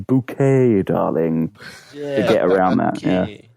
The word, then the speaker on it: Bucket: called har bucket but she pronounces her surname bouquet darling get around that